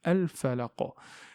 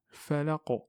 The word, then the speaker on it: الفلق: Falaqa, falaqa, et non pas falaqa, mais falaqa. Donc c'est comme s'il y a un claquement, vous voyez.